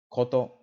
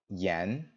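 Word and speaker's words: 言: In Japanese, it's usually going to be pronounced I, koto, or gen. In Chinese, it'll usually be pronounced yan, and you can hear the similarity in pronunciation with 2 of these sounds.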